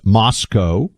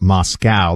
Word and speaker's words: Moscow: supposed to pronounce this Moscow so we have learned not like the way Americans pronounce Moscow the city in Russia so Moscow Idaho and